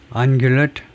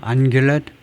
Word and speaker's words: ungulate: 발음이 어떻게 되니 하면은 ungulate 이렇게 하네요. ungulate 이렇게 한대요. ungulate 이렇게 해요. 그래서 앙은 0이라는 말이고 규는 이제 그다음에 렛은 weak 약하다 뭐 이런 건데 ungulate 이렇게 발음을 한다.